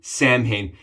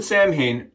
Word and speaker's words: Samhain: Today, guys, we're going to be rocking Samhain. And the reason we're doing Samhain or Samhain, right, phonetically versus how you actually say it, from Southern Witchcrafts is because it's October and it's my favorite.